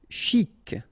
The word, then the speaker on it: chic: Chic. Okay, you pronounce the final C. And then CH together. Sh. Chic.